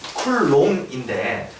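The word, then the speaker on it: Coulomb: 사람 이름으로는 쿨롬인데 이게 이분 이름 끝자리가 B로 끝난대요. 이 영어에서 B가 되면 묵음이 된대요. 그래서 쿨롬 돼요.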